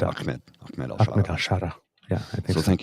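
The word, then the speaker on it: Ahmed: at alsara I'm at akmed it's pronounced ammed correct I believe so yes there's no C but it's pronounced ahed yeah I think so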